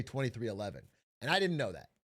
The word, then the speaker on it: 23XI: The team I call 23xi but it's pronounced 2311. I was reading the Roman numeral but real NASCAR heads just say 2311.